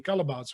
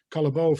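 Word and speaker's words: Callebaut: manufacturer in the world barry calabaz or calabao for a in a foreign pronunciation where we work together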